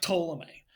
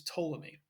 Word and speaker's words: Ptolemy: Now, the P is silent, it's not Ptolemy, but it's Ptolemy.